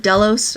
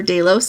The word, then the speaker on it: Delos: we were on the island of delos or Doos I've heard tour guides there um pronounce it both ways um delos is an